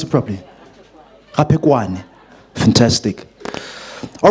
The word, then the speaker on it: Raphekwane: I pronounce it properly. Raphekwane.